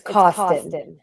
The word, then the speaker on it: Cawston: It's Cawston. Cawston. I kept saying Cawston, but there's an A in there. You could say Cawston.